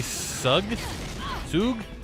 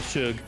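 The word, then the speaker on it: Sugg: Zoe Sug? Oh, Shug. There's no H in that. That's how you say it.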